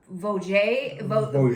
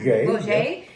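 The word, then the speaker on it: Vaugier: We have Emmanuel, I think we pronounce it Vogé. Vogé is her name.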